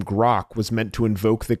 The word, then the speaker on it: Groq: task even the name grock was meant to invoke the kind of subject depth the company was striving to represent it's Gro and we spell it with a Q and it's because it